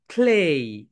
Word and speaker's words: clay: এরপরে দেখো কাদামাটি, কাদামাটির ইংরেজি আমরা অনেকে ক্লে বলি, ক্লে বলি, চায়না ক্লে, কিন্তু রাইট প্রোনাউন্সিয়েশন বলো ক্লেই, ক্লেই, ক্লেই, ক্লেই, ক্লেই, ক্লেই, ক্লেই, ক্লেই, ক্লেই, ক্লেই।